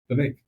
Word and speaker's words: Vivek: gonna pick Vivek. Vivek. Which one's that? Vivek Ramaswamy? Yeah. But why do you say Vivek? That's how you spell his name. Okay. His name. All right. Yeah. Vivek. Comes with cake.